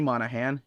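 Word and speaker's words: Monaghan: so Hitman this is manahan yes the g is silent is exactly what you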